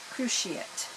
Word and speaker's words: cruciate: Cruciiet. The accent is on the crew and then she and it it I love learning new words and it just sounds better than cross.